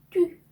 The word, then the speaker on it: tu: 자, 발음을 tu, tu 이렇게 발음합니다. 네, 때 다음에 u가 왔죠. 네, 알파벳 u는 항상 u 발음 나는데요. 입술 모양을 우 한 상태에서 이 소리를 낼 때 나는 발음입니다. 그래서 우 이렇게 한 번에 발음하셔야 되고요. 그리고 앞에 때랑 같이 연결해서 발음을 하면 뚜 이렇게 발음하시는 거죠.